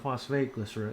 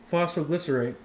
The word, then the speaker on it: phosphoglycerate: It's not phosphate glycerate. It's phosphoglycerate, right?